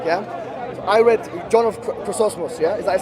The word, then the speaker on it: Chrysostom: I read John of Chrysostom. Yeah, is that how you pronounce his name? Chrysostom.